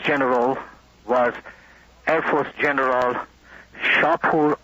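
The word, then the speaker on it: Shahpour: Now, one of those Air Force generals was Air Force General Shapur Azarbarzin. Is S-H-A-H-P-O-U-R, and his last name is spelled A-Z-A-R-B-A-R-Z-I-N.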